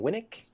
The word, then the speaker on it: Winnick: Is it Catherine Winnick?